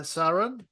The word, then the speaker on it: Saran: go so did I say your name right Saron SAR yeah you're actually VI that could pronounce it really good oh good okay fantastic